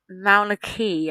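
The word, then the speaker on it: Mauna Kea: the or is it the Pacific it is Mauna key I think it's uh pronounced um and it is three quarters of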